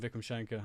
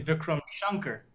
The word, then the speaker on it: Vikram Shankar: You can, hey, I'm Vikram Shankar. Oh, yeah, that's definitely how I should be pronouncing it. The irony is that's actually still wrong because it's actually Really? Vikram Shankar.